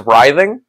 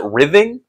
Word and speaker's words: writhing: I struggle with is writhing uh I used to always pronounce it rything because that's how I read it yeah I don't remember